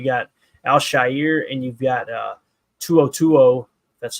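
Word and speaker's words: To'oTo'o: You got Al-Shair and you've got Tuo.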